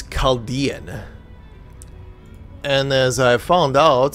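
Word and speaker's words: Chaldean: chess board okay huh shell down oracles is that how I pronounce that H kind of wondering hold on nope never mind it is caldian and as I found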